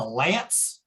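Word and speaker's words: LAANC: Some people pronounce it as if it's a K. I pronounce it as a LANC, and that's L-A-A-N-C.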